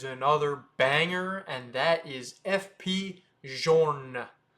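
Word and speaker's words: F.P. Journe: banger, and that is FP Journe. It's not Journe, it's Journe. FP Journe. So, you could say it however you want. People will understand what you say, but it's FP Journe.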